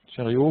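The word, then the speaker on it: Cheerio: qui s'intéressent ça serait c'est Sheriot he c'est ça on prononce comme ça c'est Sheriot voilà qui permet en fait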